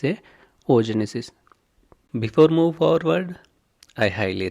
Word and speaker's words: oogenesis: and mitosis and meosis ogenesis in some places I pronounced as a oogenesis please consider it as a o Genesis before move forward I